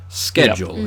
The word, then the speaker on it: schedule: greek and typically speaking a lot of greek loan words that begin with uh s c h like the word school um are pronounced sk schedule in this case whereas it's words like